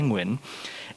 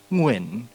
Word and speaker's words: Nguyen: It's the same sounds in the word penguin. And so I explain the way to pronounce my last name like, oh, so you say the word penguin, you say it slowly, and then eventually you just lop off the PE part, and then it's just Nguyen.